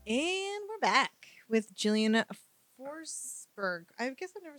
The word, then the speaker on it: Forsberg: and I said just say it he's like forsberg I said okay cool cuz I didn't know